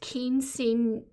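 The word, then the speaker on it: Quinceañera: It's pronounced Quinceanera.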